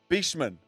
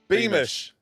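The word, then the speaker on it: Beamish: Um the I always get his name wrong. The steeplechaser. Yeah. Jordi Be uh Beman. Beman. Beman. B A is giving us the Beeish. Beish.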